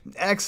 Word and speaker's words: Exe: By the way, X is spelled EXE, which is the shortened form of the computer command, execute.